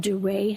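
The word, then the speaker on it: Duret: They're called duray hemorrhages. How do you spell that?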